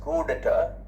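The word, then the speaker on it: coup d'état: Notice that the P is silent in both these words.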